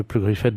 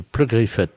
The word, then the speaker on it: Pleu-Griffette: Oui, de Pleu-Griffette. Alors, P-R... Comme ça se prononce, hein, Pleu-Griffette.